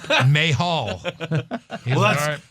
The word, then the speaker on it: Mahal: like oh thank you finally may Hall that's how you really pronounce yeah that's how you